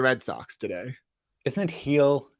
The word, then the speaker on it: Gil: sox today isn't it heel isn't it heel isn't that how they pronounce it okay let's hear the